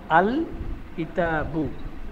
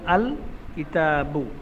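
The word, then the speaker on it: الكتاب: লাম যোগ হওয়ার কারণে লাম হরফটি স্পষ্ট ও আলাদা উচ্চারিত হয় যেমন কিতাবুনের শুরুতে আলিফ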